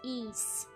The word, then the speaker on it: Ys: So, I've been told it's pronounced ease.